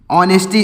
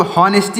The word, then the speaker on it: honesty: इसको हॉनेस्टी नहीं पढ़ेंगे, सॉरी, यहाँ पर रहेगा ऑनेस्टी। तो यहाँ पर ये जो रहेगा ऑनेस्टी, इसको हॉनेस्टी नहीं पढ़ेंगे, ऑनेस्टी है। इसमें जो यच लिखा गया है यह साइलेंट है, मतलब इसका यहाँ पर प्रोनाउंसिएशन नहीं लिखा जाएगा।